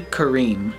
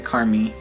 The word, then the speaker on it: Kareem: So the name is Only Kareem, not Only Carmi. I said Carmi, but it's Kareem.